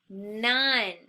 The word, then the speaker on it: none: n oh and E none that's right it's a trick word because it doesn't look like how it sounds okay none sounds like